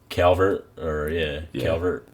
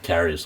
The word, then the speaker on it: Caris: They have Calvert LeVert. Did I say it right? I don't even know. I'm out here messing it up. Caris LeVert. There you go.